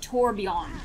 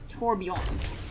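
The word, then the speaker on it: Torbjörn: yeah the actual like his name is pronounced tour beyond not torbjorn even though i have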